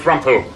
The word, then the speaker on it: Rumpole: the Lord be with you Tracy my name's rumo how you spelling that sir uh how about